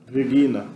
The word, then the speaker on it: Regina: Você vê aqui uma vogal com macron em cima, é longa. Então você sabe que a pronúncia vai ser no latim clássico, né? Regina, né? Acentuada aqui.